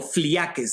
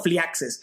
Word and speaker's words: phlyakes: PHLYAKES o Fliakes, depende cómo se pronuncia, o Fliaxes.